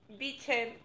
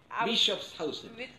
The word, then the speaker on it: Bischoffshausen: Ya, estoy con Gustavo von Bichen. Bischofshausen. Ya, lo pronuncio él mejor.